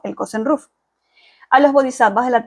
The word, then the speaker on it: kosen-rufu: Esta frase, específicamente, propagación amplia y universal, es la traducción de los ideogramas chinos que en japonés se pronuncian Kosen Rufu.